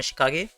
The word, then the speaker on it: Shikage: उसका नाम है शिकागे एंड इसे शिकेज भी आप कह सकते हैं। It could be pronounced as शिकागे और शिकेज, एनीथिंग।